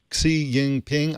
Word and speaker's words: Xi Jinping: We've been telling you for months about growing restrictions on the internet in China under President Xi Jinping.